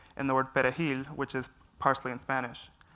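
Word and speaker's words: perejil: they would ask them to say the word perahil and if they could not say the word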